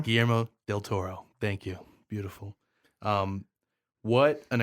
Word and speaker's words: Guillermo del Toro: Guillermo del Toro. Guillermo del Toro.